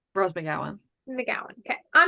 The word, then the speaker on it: McGowan: Rose McGowan.